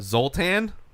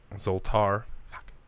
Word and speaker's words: Zoltar: Uh, Zoltan. Zoltar. I hear people say it wrong all the time, so there's been Actually, it might be.